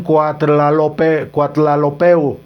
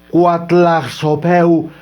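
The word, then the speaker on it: Coatlaxopeuh: Algunos también ponen Cuatlalopeu. Otros le ponen Texcuatlazopeu. No, hay modificaciones, pero realmente la palabra correcta es Cuatlaxopeu.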